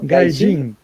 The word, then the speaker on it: gaijin: Gaixin, se pronuncia assim, Leo? Gaijin.